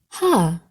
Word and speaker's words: Hey: Hey, pronounced ha, or silent.